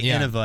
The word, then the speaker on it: Innova: heard hear me say Innova and then they stopped saying it. it's Innova is cuz it comes from innovate.